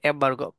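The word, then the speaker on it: embargo: এম্বার্গো এর উচ্চারণ হচ্ছে এম্বার্গো।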